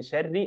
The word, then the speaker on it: شر: نلاحظ هنا كلمه من شر الراء الراء الراء ا مكسوره فهنا والراء مرققه نقول من شر لا نقول من شر لا شر شر من شر النفاثات الالف